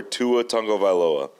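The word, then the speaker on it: Tua Tagovailoa: you land on it's QB's I'd take before Tua Tango valoa good pronunciation thank you you've trained me well uh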